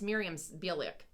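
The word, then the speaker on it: Mayim Bialik: was in, but I can't pronounce her name either. That doesn't. Miriam. It's Miriam Bialik.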